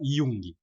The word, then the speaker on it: Jung: é o Jung né que se escreve com J se escreve Jung para que não sabe se fala Jung né o Jung Ele